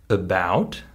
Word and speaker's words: about: they're unstressed for example I already said the word about in that word the letter A becomes the schw sound and if I say